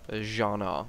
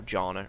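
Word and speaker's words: Jarl: of course i'm always jean are and that is how you pronounce that it's not jana or Jonah its Jonah are you a relative of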